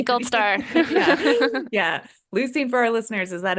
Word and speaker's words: leucine: leucine.